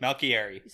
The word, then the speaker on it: Malkieri: Malkieri.